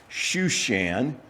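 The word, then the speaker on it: Susa: which translation for example the King James version pronounces it or translates it as shushan but it's the same place it's just a little different pronunciation of the same uh Hebrew word.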